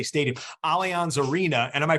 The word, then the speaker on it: Allianz Arena: Allianz Arena. And am I pronouncing that correct? Right? Allianz Arena, yeah.